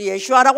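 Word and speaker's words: ישוע: 왜 이 교회는 또 예수를 예슈아라고 하나? 별나게 찬양도 별나게 하고 뭐든지 다 별나게 하네. 사실은 예슈아가 원문입니다. 아람어로 예수를 예슈아. 발음이 그렇대요. 그 사람들 이러면 다 슈아 그러겠네.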